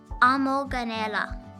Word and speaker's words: amoganela: Amoganela. A-mo-ga-ne-la. Amoganela.